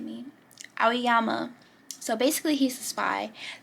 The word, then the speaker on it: Aoyama: left my brain okay his name is pronounced aiyama oh my god oh it was I don't know why his name is G me ayama so basically he's the Spy that also got